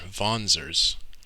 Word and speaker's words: Wanzer: wanzers or i guess they're pronounced vonsers spelled w-a-n-z-e-r which is short for walking panzer and panzer is a german word for tank in case you didn't